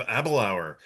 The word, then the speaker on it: Aberlour: Uh I am filling in tonight and we have abalour uh rhymes with happy hour.